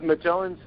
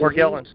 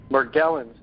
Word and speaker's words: Morgellons: Well, the Magellan's, I'm not sure how you say it, Magellan's disease? Morgellons, yeah. Morgellons disease.